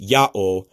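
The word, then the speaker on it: ΙΑΩ: This, if you know how to speak Greek, you should see that it's pronounced Ya'o, which should immediately have you should immediately notice the phonetic similarity to the name YaHWèH.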